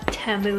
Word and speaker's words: Temu: But first, maybe some of you are wondering what Temu is, and that's actually how you pronounce it. It's like Tem and then Mu, but it's basically an online marketplace, and it's endless.